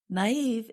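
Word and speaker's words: naïve: Naive is spelled N A I V E. And we put two little dots above the letter I to show that we pronounce that vowel separately.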